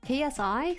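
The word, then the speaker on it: Xi: Oh, by the way, it's the Greek letter C. Oh, it's pronounced KSI.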